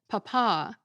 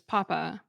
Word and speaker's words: papa: Popular in the 1600s and 1700s, it was used as a polite term for father, especially when stressed on the second rather than the first syllable, papa versus papa.